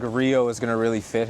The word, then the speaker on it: Rio: Rio. If you can roll your R's, it goes Rio. If you can, it's Rio.